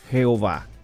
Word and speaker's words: Jehová: ado nay y entonces con las vocales de adonay las intercalaron en y h w h y formaron un nombre que se pudiera pronunciar como yagüe o jehova ahí debemos decir que